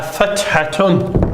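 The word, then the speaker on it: فَتْحَةٌ: and that's called a fathatun. Fathatun. We always pronounce the ending when we're learning Arabic.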